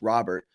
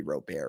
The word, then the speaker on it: Robert: uh chicago white sox lewis robert i think that's not how you pronounce it's gotta be rope air right uh lewis robert